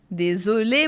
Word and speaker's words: désolé: Désolé, madame. Então, outra dica de pronúncia aí. E com Z, ou E com acento agudo, que está em vermelho, a gente fala E. E, som fechado.